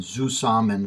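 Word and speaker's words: zusammen: that's the Z now the E and the Z come from German words and I'm going to probably mispronounced these but it's NT aegon for opposite in zou saman for the same so that's where the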